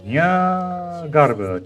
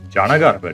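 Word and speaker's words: Jnagarbha: She said Nya Garba Day. Huh. I thought it's Jana Garba Day. Jana.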